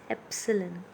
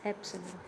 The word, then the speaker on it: Epsilon: as it's called as Epsilon okay it is not e it is Epsilon its pronunciation is Epsilon it is represented by